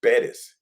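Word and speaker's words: Pérez: No, it's not Perez, it's Perez, Mhm. you gotta pronounce it.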